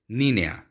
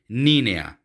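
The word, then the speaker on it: niña: ये अब देखिए एन के ऊपर उसी तरह का एक साइन है, इसलिए हम इसे नीना नहीं कहेंगे, बल्कि जहाँ पे ये साइन आ जाएगा उसकी प्रोनाउंसिएशन हो जाएगी चेंज, इसलिए इसे हम कहेंगे नीनिया।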